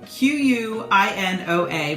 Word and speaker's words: quinoa: shall we quinoa is spelled with a q q-u-i-n-o-a but it's actually pronounced quinoa and it is a grain that